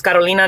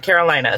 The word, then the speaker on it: Carolina: You should be able to pronounce my name. It's Carolina, not Carolina.